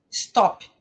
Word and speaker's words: stop: Como que, em geral, os brasileiros pronunciam essa palavra? Stop. Não é stop. Stop. Stop. Né?